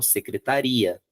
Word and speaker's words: secretaria: O acento eu preciso ter secretária. Se eu não tiver o acento, a tônica vai para o final, secretaria.